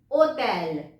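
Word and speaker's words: hôtel: होटल, ओटेल। ओटेल, H हो जाएगा silent.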